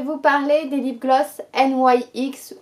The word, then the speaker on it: NYX: parler des lip gloss NYX ou NYX pour la prononciation à la française.